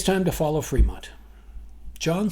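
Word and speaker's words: Frémont: If you're taking notes, it's spelled Fremont, F as in Foxtrot, R-E-M as in Michael, O-N-T as in Tango, and if you are taking precise notes, there is an accent mark over the E.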